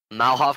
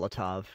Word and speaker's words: Molotov: You find 7 cookies, flight dust, Malhov cocktail. I'm not pronouncing that right. I know I'm not pronouncing that Molotov. Right. Molotov.